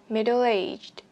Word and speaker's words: middle aged: Các bạn bật chữ D ở cuối từ này ra cho mình. Từ này trọng âm vào trọng âm 3 vào từ aged này nha các bạn. Middle aged. Nối âm, các bạn đã thấy mình nối âm âm L sang âm A.